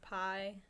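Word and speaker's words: Pai: my favorite thing was pie like actual pie like apple it's spelt PA and it's a place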